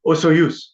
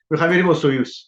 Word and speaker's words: Soyuz: You pronounced it Osoyuz. Soyuz. Because it's a Soyuz.